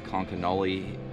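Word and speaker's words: Conconully: I just talked to somebody at the campground here that was telling me that it's Konkanoli and Chelan Lake.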